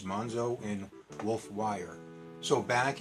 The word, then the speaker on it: Monxo: o mo n XO so if you're pronouncing the excesses it's munzo and wolf wire so